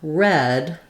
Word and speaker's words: read: read a book, but read, past tense, I read a book yesterday, has the vowel, and this read, as in read a book, is pronounced the same as the color red.